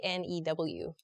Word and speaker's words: knew: some people kind of they recognize the k sound and make it more of like a new new sort of sound I just say new